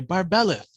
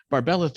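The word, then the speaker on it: Barbelith: the 80s you can't say a three syllable word that starts with b unless you're saying it like in conan destroyer bombata so you have to say barbelleth in the same like intonation or else this just doesn't feel right off the tongue so barbelleth was this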